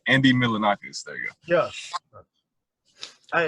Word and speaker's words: Milonakis: that it was dope but it's like andy milanokinis i'm not something my name wrong andy milinakis there you go yeah i remember when andy